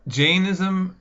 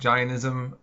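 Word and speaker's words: Jainism: all right so uh jism sometimes it's pronounced ganism um depending on who sometimes oun gism other times jism but it's essentially uh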